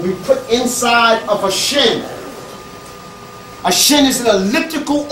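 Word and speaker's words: shn: Don't call those sacred symbols a cartouche, a French name. It's a shin. S-H-N. Or if you can put a little E in there if you can't pronounce it. A shin.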